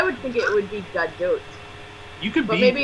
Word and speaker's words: Gadot: pronounces her name, because everyone pronounces it as if it's French, but she's fucking Israeli. Like, why would it be a silent T?